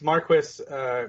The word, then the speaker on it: Marquis: It's Marquis because Marquis is the French pronunciation. You would drop the last S, but in British, I think it is Marquis or something.